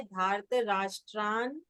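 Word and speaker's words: धार्तराष्ट्रान्: एक मिनट, एक मिनट, धार्त राष्ट्रान, क्योंकि ये आधा ना पहले पहले अक्षर के साथ जाएगा, तो उसका उच्चारण है धार्त राष्ट्रान।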